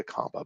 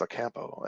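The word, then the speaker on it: Ocampo: Uh, I don't know why I want to say Acampa, but it's Acampo.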